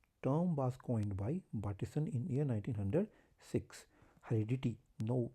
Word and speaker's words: Bateson: You can pronounce it as Bateson or Bateson. I'm pronouncing it as Bateson.